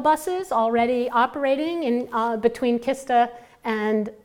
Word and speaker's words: Kista: You guys probably know about the AV shuttle buses already operating in between Kista and, is it pronounced Kista? Shista? Kista. And Stockholm, Shista, okay, thanks.